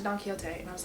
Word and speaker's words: Don Quixote: I've discussed this book, I was pronouncing Don Quixote wrong, and pronouncing it Don Quixote. And the person I buddy read this book with, which I'll put her Instagram handle below because Lord loves her, Jessie, is Spanish speaking, and she definitely pronounced it Don Quixote, and I was like,